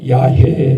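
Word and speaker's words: Yahweh: 그래서 우리의 구약의 하나님은 이 각 단어의 자음자를 모아가지고 히브리식으로 발음하면 하나님 이렇게 안 하고 야해 이렇게 발음하는데 그것도 하나님의 이름이기 때문에 함부로 부르면 안 된다 그랬습니다.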